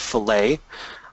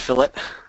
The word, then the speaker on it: fillet: people mistakenly call it filt that's only for for Meat and Fish if we're 3D modeling it's pronounced fillet so we'll click on